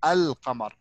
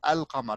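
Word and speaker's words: القمر: Say, just make the Al pronounced normally. Al. Al Qamar. Don't change anything. The normal Al. Al Qamar.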